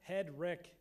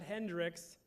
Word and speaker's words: Hedrick: It's pronounced Hedrick, not Hendrix, Hendrick, or Eric. Hedrick.